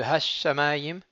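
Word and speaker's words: הַשָּׁמַיִם: Bien prononcer le aleph. Parce qu'il y a un resh suivi d'un aleph, on risque de tout avaler d'un seul coup. Ve'asar et hashamayim. Bien aussi articuler le he de hashamayim.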